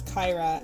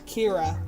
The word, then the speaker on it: Kyra: uh pronounce your name I know it's Kyra and I've literally never mispronounced it since can't remember what I used to call you Kira Kira that's what it was cuz that's how we would pronounce it in uh in the states but k i r is always like cure cure boom Another handle